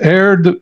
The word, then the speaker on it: Aird: On prononce Aird ou Aird? Le premier, Aird, à l'anglaise.